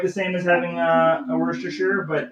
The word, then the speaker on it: Worcestershire: Worcestershire sauce? Did I say it properly? Worcestershire. Worcestershire. No, it's Worcestershire. Worcestershire.